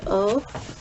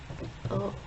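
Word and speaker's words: を: Remember which was O? O. That's our direct object particle. We write it in Romaji. It's written as wo, but the W is silent. So don't, it's said as O, pronounced like O, right?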